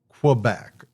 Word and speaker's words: Quebec: Uh, yeah, actually Quebec's good. Um, here in the French Canadian, we say Quebec. Uh, I don't know you spell that. K A Y I guess would be the right sound for it.